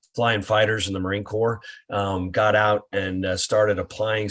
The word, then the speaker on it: corps: the core group and it is pronounced core Marine Corps Esprit de corps it